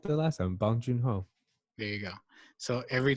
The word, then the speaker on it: Bong Joon-ho: me he said it right the last time bong joon-ho there you go so every time I since